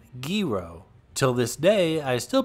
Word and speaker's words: gyro: work in downtown manhattan and i always ordered gyros until i was corrected by a greek co-worker who said it's pronounced gero till this day i still pronounce it gyro